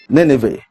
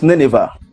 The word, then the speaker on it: Nineveh: As people many times say, Nenev or it's Nineveh. It's Nineveh, but people normally pronounce it as Nenev.